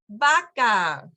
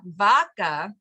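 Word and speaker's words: vaca: the kids's favorite song Baka baka yeah so you notice I'm not saying V vaka okay it's Baka you've been listening to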